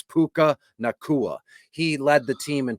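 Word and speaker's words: Puka Nacua: his name I know it's I how you pronounce it it's it's puka nakua he led the team in Targets in receptions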